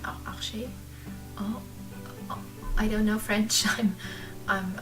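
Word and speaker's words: Arches: I don't know how it's pronounced, but I don't want to say Arsch because that's the German, that's a very not nice German word for booty, so I'm not using that word. I'm saying Arche.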